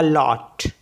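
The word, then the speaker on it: loup: मीस होता है अ लॉट इसको पढ़ते हैं बोकू तो पी जो है इसमें साइलेंट होता है ऐसे ही एल ओ यू पी इसको पढ़ते हैं लू लू मींस वुल्फ इसमें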